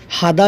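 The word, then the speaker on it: هذا: হাগ্গিমিন এই মোবাইলটা কার হাদা জাওয়াল হাগ্গিমিন এই মোবাইলটা কার হাদা জাওয়াল হাগ্গিমিন এই মোবাইলটা কার হাদা বা হাদা শব্দের অর্থ হলো এই এটি এইটা ইহা হাদাকে হাজাকে আরবিরা হাদার মত উচ্চারণ করে জাওয়াল মোবাইল হাগি মিন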